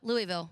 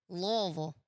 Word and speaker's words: Louisville: yeah I said Louisville Louisville is what I used to say and then all my friends from Kentucky all my one friend was like no you're saying it wrong and I was like what is it she's like Lille and I was like